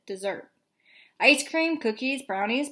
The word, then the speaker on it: Desert: on an island called Mount Desert she pronounced it dessert ice cream cookies brownie